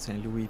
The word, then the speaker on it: St. Louis: I call it Saint Louis because I'm French. I mean, yeah, Knox is French, and I know Fable pronounces it Saint Louis, but it's everybody here calls it Saint Louis.